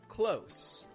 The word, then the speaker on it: close: Close, as an adjective or an adverb, to be near something, uses a regular S sound on the ending. Close, close. S is a fricative sound.